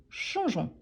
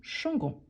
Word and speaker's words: changeons: à la prononciation nous changeons nous changeons on ne prononce pas les E mais on doit l'ajouter pour ne pas dire nous changons donc c'est pour ça nous changeons de classes mais il